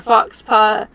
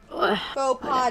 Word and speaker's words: faux pas: You're mortified by your fox paw. Faux pas de cheval.